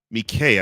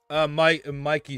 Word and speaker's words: Mike: And to me, Mikay, I think that's how you pronounce it, right? Sainver still? Mikey Sainver still. So it's Mikey. I thought it was Mikay.